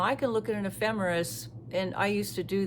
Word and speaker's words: ephemeris: The word is spelled e p h e m e r i s and it's pronounced ephe ephemeris.